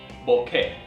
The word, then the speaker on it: bokeh: up front so B say it with me Boke not b or bokei or B it's Boke now you'll hear it